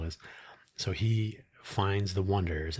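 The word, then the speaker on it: Oneders: So he finds The Wonders and they spell their band name o n e d e r s, The Wonders.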